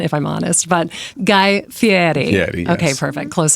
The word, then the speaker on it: Fieri: He would yell at you, it's Fieri. He's okay. Italian. Well, it's very particular about his pronunciation.